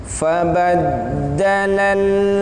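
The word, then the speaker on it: فَبَدَّلَ: Di sini kita akan mulai dari fabaddalal ladzina. Di sana ada dal yang ditasydid. Fabaddalal, tasydid itu berarti hurufnya double. Artinya dalnya itu seperti ada dua.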